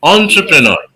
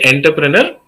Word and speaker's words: entrepreneur: enough pretty close enough people often say enterpreneur no wrong pronunciation I I I'm a great fan of different pronunciations but it cannot be a wrong preneur enterpreneur is completely wrong entrepreneur okay entrepreneur right